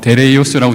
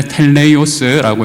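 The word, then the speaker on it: τέλειος: 저기도 뭐 데레이오스라고 돼 있는데 텔레오스라고 읽을 수 있겠습니다.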